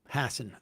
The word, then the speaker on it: Hassan: Uh the other Oh, Maggie Hassan. Hassan. Okay. Yeah. Uh both of them were governors. Maggie Hassan and Jean Shaheen.